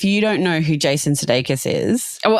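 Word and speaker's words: Sudeikis: For those who aren't playing along at home, Jason Sedokus is Ted Lasso. I think if you don't know who Jason Sedakus is.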